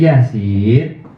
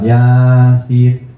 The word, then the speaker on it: Yasin: Jadi bacanya Yasin. Bukan Yasin.